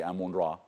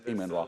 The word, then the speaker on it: Amun-Ra: We call him Amun, wrongly Amun-Ra. He's Imen-Ra.